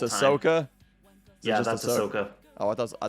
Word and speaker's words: Ahsoka: wars character oh it's ahsoka yeah oh i thought i thought okay so you don't heavily pronounce the age got it you understand